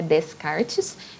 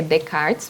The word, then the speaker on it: Descartes: ele primeiro eu não como é o nome francês a gente não pronuncia o s no que aparece no meio então não é Descartes é Descartes mesmo que a gente pronuncia tá e o que